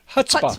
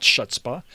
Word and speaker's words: chutzpah: He says that there is no C in the Oh, pronunciation. that is so true. Where did I... It's Chutzpah. Chutzpah. Chutzpah. Yes. Chutzpah. It's not Schutzpah.